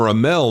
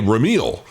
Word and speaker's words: Rameel: going to call him Ramel now because I want to be cool. Okay. Because his name is spelled out Rameel, which to us white folks, we say Ramil.